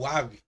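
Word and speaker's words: ו: O Wav, ou Vav, tem um som de V, que ainda que aqui seja transliterado pela letra W, é bom lembrar que o Wav tem algumas obras mais voltadas para a pronúncia clássica em lugar do atual, como Wellington, Wayne, tal, Washington, ele tem um som assim, wa, tá bom? Pode parecer além da transliteração pelo W, sendo lido com o som de uma mesma letra, como na palavra inglesa way.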